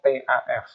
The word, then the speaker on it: tough: TOUGH itu dibacanya TAF, TAF.